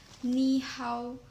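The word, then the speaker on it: 你好: is the common greeting knee how or hello despite being written with two third tones the first character is pronounced with the second tone me in conclusion the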